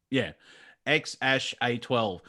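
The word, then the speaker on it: X Æ A-12: at each other so that means ash that's how you're supposed to pronounce ya ex ash a twelve and a twelve is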